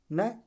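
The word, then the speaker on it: know: से, किससे पहले, यन से पहले आया के न, अर्थात यन से पहले यन है, इससे पहले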